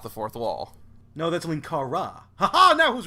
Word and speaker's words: Linkara: No, that's Linkara.